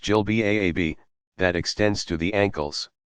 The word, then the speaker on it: jilbab: Some wear a flowing gown, jilbab, pronounced jilbab, that extends to the ankles.